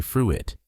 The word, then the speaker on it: fruit: Some people say fruit with 2 syllables, but the correct pronunciation is just 1 syllable.